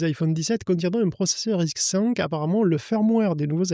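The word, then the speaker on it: RISC-V: J'oserais dire d'avenir hein, c'est Risque 5. Ça s'écrit Risque V avec le 5 en chiffre romain.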